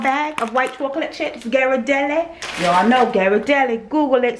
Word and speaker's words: Ghirardelli: 11 ounce uh bag of white chocolate chips Ghirardelli y'all know Ghirardelli Google it so you know how to pronounce stuff all right so I've got the